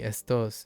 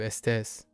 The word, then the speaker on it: estos: ¿Necesitas estos zapatos? Oh. These. Estos. Oh, now we have estos and estas. Oh, wait. Oh, that's interesting. I forgot about it being estos instead of estes.